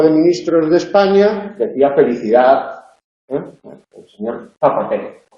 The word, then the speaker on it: felicidad: pequeñita volada, que es lo que pronunciamos en felicidad. Felicidad. Esa D del final casi no se percibe, casi debe percibirse en el habla culta.